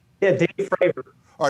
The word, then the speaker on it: Fravor: How do I pronounce his name? Yeah, Dave Fravor. All right, yeah, Fravor. Dave Fravor.